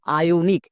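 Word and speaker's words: ionic: যেমন দেখো আয়োনিক, এখানে এ এবং ই দুটো ভাওয়েল পাশাপাশি আছে, তার মানে পরের ভাওয়েলটি সাইলেন্ট, ই এর উচ্চারণ করব না। এর জন্য এখানে আ সাউন্ড হবে।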